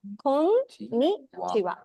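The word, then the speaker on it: こんにちは: So we should use ha, but we're pronouncing it as wa. Ni. Yeah, exactly. Kon-ni-chi-wa. WHA like that. No. Just wa. We're writing heche, but the pronunciation is wa only.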